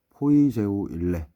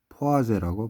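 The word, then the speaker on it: Poiseuille: 포아즈 하연은 독일 뿐이고 포이 제우 일래 어 스펠링 해올 때는 포이 재우 일례가 맞는데 프랑스 뿐이에요 그래서 포아 이제라고 발음하면 되죠 그래서 시험에 늘 나왔던게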